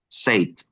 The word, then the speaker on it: said: Said. Set. You pronounce set.